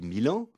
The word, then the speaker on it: Milan: Quand à la gare de Lyon, j'entends qu'on annonce un train pour Milano-Venezia. On dit Milan.